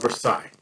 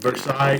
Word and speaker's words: Versailles: as the treaty of versailles and versailles is pronounced versailles in kentucky tree riverside is uh will